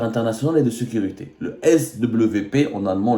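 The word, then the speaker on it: SWP: et de sécurité le S WP en allemand le W se prononce V le svp le institut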